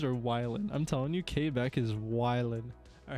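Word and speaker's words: Québec: violent i'm telling you k back is violent all right are they not your buddy pal oh is that how it's actually pronounced quebec it's gay back yeah okay um same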